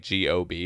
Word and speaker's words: Gob: It's like G-O-B, and so everyone calls him Gob.